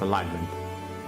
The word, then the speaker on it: alignment: light may not agreement why do I call it agreement it's alignment the g is silent nature bond that